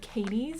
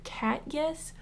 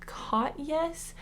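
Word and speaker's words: Katjes: And I looked it up and Jes is supposed to be pronounced as Yes. And I think it's either cat Yes or C. Yes.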